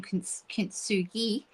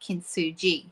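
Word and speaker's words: kintsugi: I was saying Ksugi, but it's apparently kinsu gi. So, I was saying it wrong and my apologies to anyone who um who um was hearing that and realizing how wrong it sounded.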